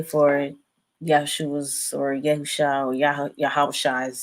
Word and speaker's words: Yahweh: I would say Yahweh or Yahweh.